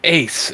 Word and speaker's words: AC: What if I made Ace in Ai and it's pronounced you know the name is AC it's not pronounced Ace it's the letters AC cuz they're an abbreviation and I mess Ty